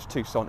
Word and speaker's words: Tucson: Moving on to the rear of the Tucson or Tucson, if you're a bit of a weirdo, it's pronounced Tucson, trust me.